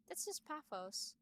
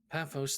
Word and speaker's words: Paphos: a second page nine not page nine that's pathos paphos thank you for which the city of for